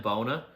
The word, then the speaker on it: Bona: You also have Adem Bona, freshman.